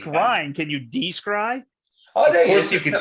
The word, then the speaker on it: Descry: Is it Decry? It's Decry is how you pronounce that with a no, it's Descry.